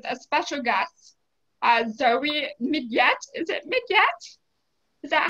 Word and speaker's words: Midyett: We're here today with a special guest, uh, Zoe Midyett. Is it "Mid-yet," Is that how you pronounce it?